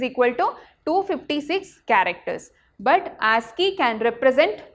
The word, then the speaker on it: ASCII: ASCII. American Standard Code for Information Interchange. How to pronounce this ASCII?